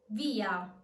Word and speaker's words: via: Like in this case, via. Via. The E in via is stressed, therefore it's strong. So it's not going to be pronounced as a Y, but as a full E.